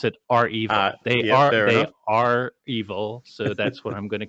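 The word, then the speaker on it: REvil: and by the way some people pronounce it revel i pronounce it they are they are evil so that's what i'm gonna call them uh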